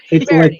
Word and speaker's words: Verity: It's Verity. like poetry. It rhymes.